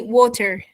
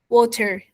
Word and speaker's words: water: after after me yeah say after me water water it's not a it's not an absolute T but it's a d with an R almost a d yeah water water water